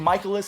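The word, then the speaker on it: Mikolas: It's actually Mikoles. I keep saying his name wrong. I've said it like that for so long. I'm trying to retrain my brain.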